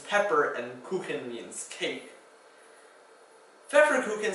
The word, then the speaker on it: Pfefferkuchen: Pfefferkuchen starts with a PF for the F sound, And then in the middle, the F sound is spelled with an FF. So two ways to spell that same phonetic pronunciation.